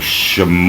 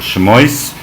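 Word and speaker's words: Shemot: torah this is the book of sham or shamoys which is depending on your more sephardic or ashkenazic pronunciation which means the book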